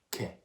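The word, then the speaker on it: che: the cha sound and if we want a k sound we're going to put a silent h in between the c and the e c h e to make que bella mi piacia la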